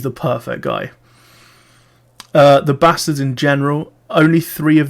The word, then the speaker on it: Basterds: quentin tarantino spelling but he has said that the e in bastards is kind of how it's said in the film so he hasn't explained